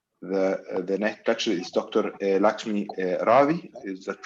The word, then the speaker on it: Lakshmi Ravi: Lakshmi Ravi, is that right?